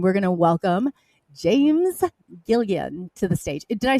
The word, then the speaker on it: Gilliland: Did I pronounce that correctly, or is it? Yeah, did I need a? Yeah, Gilliland.